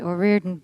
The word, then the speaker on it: O'Riordan: Now, is it O'Riordan or O'Riordan, or how do you say your last name exactly in the full Irish? Come on. I say O'Riordan.